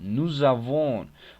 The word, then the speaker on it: nous avons: ils ont ells ont mais attention en la prononciation nous avons on va faire la Petiton entre nous et